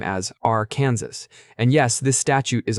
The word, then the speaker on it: Arkansas: However, because French functions strangely, the terminals remains unvoiced, similar to how one omits the S's sound when saying Paris.